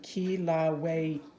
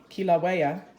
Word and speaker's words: Kilauea: kill kill are you here's the pronunciation Kilauea Kilauea for more than 25 years